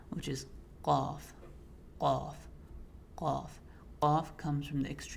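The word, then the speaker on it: ق: One of the mistakes that people commonly make when pronouncing qaf is making it sound too much like kha, kha. So let's say khaf, khaf, or khaf, kha. It's kind of mixing the two. If there's any sound of kha in it, then it's not being pronounced correctly.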